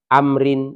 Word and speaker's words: Amr: Umar Bin Ash bin Amr Bin Ash Abdullah bin Amrin Bin Ash jadi pembacanya Abdullah bin Amr Bin as bahasana Iya Rasulullah alam